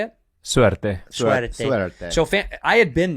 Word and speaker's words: Suerte: Suerte.